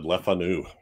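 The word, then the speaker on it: Le Fanu: Yes actually I was hearing these British people pronounce it and they all said lefanu leanu the cast includes ingr pit pip of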